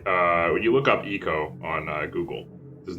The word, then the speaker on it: Ico: or you may not have uh it's called eco or ico but don't call it aiko because that's not what it's officially called really